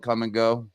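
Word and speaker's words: Kum & Go: guys ever heard of the little store called come and go no no it's spelled k m and go yeah I know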